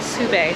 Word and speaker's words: SUBE: It's called sube, not soup.